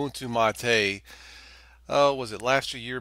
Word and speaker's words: MATE: done also in Ubuntu mate and it is pronounced mate.